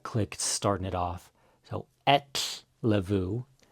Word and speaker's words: ellefu: So Let's start going over ettlavu. The double L is one of the hardest combinations to pronounce in Icelandic.